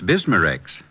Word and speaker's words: Bismarex: B I S M A- R E X.